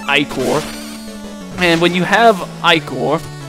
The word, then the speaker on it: ichor: That's pronounced ichor.